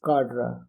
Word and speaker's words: cadre: organizations and socio-cultural movements according to Merriam-Webster Dictionary the pronunciation is Cadre the pronunciation according to Google is kadra the American pronunciation is